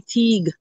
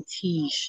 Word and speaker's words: Teague: you know hillary teague he wasn't french so he wouldn't have pronounced his name tiege he would have said teague so if you meet african-americans in the south in the united states whose names are spelled that way they say teague with a strong g